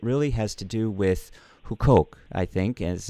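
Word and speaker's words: Huqoq: of the site or goo coke org and who coke is spelled hu q oq I know it looks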